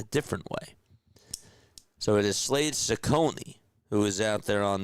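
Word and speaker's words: Slade Cecconi: the hill for them is going to be Slade Cone.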